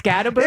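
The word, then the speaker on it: Skattebo: Well, it's Scataboo.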